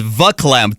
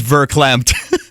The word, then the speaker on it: verklempt: doing that you know i always thought it was vaclamped i didn't know it was verklempt me too i mean